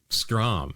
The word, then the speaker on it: Strom: Pronunciation rhymes with prom. Strom.